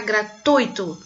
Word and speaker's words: gratuito: Porque tem gente que fala gratuito, né? Como se o i fosse a sílaba tônica, mas não, é gratuito. A sílaba tônica é no ui, tá? Gratuito.